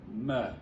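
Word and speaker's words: מֶה: Although that one would be pronounced meh, which in English slang today means I could care less.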